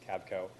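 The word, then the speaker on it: KABCO: here on the screen k-a-b-c-o pronounced cabco uh K killed or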